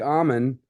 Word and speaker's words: Amman: and it was because Mike Amman, that's the right way to say it. Amman? You got it. You got it. Sounds like an almond without the L.